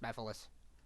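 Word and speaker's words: Mephiles: it was yeah it's pronounced bethalis it's it's pronounced methylus also seeing an ultrasonic made my day because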